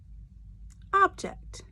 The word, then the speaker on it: object: one we will do object object object the emphasis on the first part of the word it's not object its object so is it